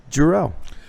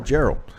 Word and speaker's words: Gerald: making his WLW debut, Billy the Kid Jarrell. Gerald. I'm sorry, Gerald. We mispronounce it like every other day because we just know him as Billy.